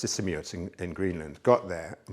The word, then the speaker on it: Sisimiut: It took me about 6 months, and then we ended up in a place called, I think it's pronounced Sisimiut in Greenland.